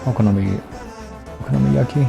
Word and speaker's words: okonomiyaki: We can do okonomiyaki.